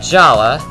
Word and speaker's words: Jala: r but I'm still saying Jala because that's how his name was pronounced in bionical mask of light so don't always uh